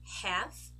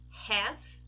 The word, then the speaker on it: half: of the M okay another group of words where we do not actually pronounce the letter L are these ones calf half be half let's go again calf half be half as you can see what we pronounce is an e have be half right and thankfully we also